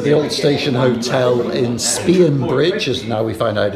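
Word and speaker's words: Spean Bridge: We're at the old station hotel in Spionbridge, as now we find out it's pronounced.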